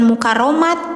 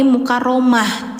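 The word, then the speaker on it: مكرمة: Nah ini jangan mukaramat tapi mukaramah. t-nya menjadi H. Jadi ini itu ta marbutah namanya. Jadi aturan ta marbutah itu ketika mati suaranya jadi H ya, Teman-teman ya. Jadi jangan jangan T lagi tapi udah berubah menjadi H gitu.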